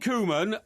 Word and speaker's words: Koeman: Koeman is how you pronounce it. Koeman.